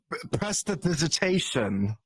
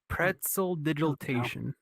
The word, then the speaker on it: prestidigitation: No, press. You start with press. So is Press this the it. right way? Press it digitation. Pretzel digitation.